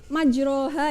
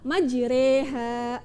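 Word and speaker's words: مجريها: 41 ya ini kan kalau kita ee baca secara secara biasa itu majroha ya tapi karena ini termasuk bacaan imalah maka membacanya adalah majreha Oke Coba kalian ikuti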